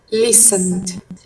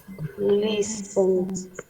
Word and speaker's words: listened: Perdón, teacher, ¿cómo es la pronunciación? Listened. Listened.